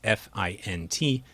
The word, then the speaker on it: fint: The way we approached it in our work is to go to neighboring non-words, in this case F-I-N-T, and we train the model to pronounce it as fint, as if it were a real word.